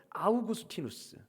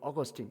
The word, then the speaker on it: 아우구스티누스: 여러분 초대 교부였던 아우구스티누스 영어 발음으로 어거스틴입니다. 라틴어 이름으로론 아우구스티누스이고 영어식 이름으로는 어거스틴. 여러분 성 어거스틴 많이 들어보셨죠?